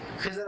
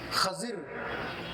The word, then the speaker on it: خضر: حضرات ان کو خضر، یعنی اردو میں ضاد جو ہوتا ہے اس کو ضاد پڑھتے ہیں عام طور پہ. تو اردو میں جو تلفظ ہے خضر یا خضر، اور عربی میں ضاد کو ضاد پڑھتے، ضاد نہیں پڑھتے. تو وہ خضر یا خضر دونوں ہی لفظ صحیح ہے.